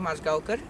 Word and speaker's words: Majgaonkar: so my name is pronounced Moscow car and I was a student of Toto Milani